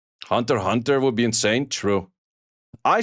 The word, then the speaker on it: Hunter x Hunter: I still have no clue why Hunter Hunter is called Hunter Hunter when you write it as Hunter Hunter x Hunter. Like that doesn't make sense to me. Like the x is silent.